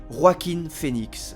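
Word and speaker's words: Joaquin Phoenix: J'ai bien sûr nommé en faisant attention à la prononciation Roakin Phoen l'acteur de 44 ans qui a vu sa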